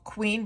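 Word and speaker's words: Qveen: This is from the brand called Queen, but it's spelled with a V.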